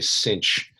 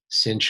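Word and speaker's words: sinh: can also people say cinch cinch of x is how you kind of pronounce that thing cinch of x uh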